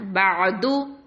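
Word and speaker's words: بَعْدُ: இந்த ஐன் சொல்லும் போது டீப்புக்கு போகணும். ஓகேவா? தொண்டை கொஞ்சம் அழுத்தமாக ஆழமாக நம்ம உச்சரிக்கணும். ஓகேவா? பஅது, பஅது. இந்த இடத்துல கல்கலாக கொடுத்துடக்கூடாது. ப ப அப்படின்லாம் சொல்லக்கூடாது. பஅது, பஅது. நல்ல தொண்டைக்கிட்ட சவுண்டு கேட்கணும். பஅது.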